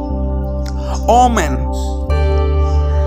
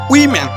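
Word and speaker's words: women: ওমেন মহিলাগুলো ইজ রং pronounce, উইমেন is right.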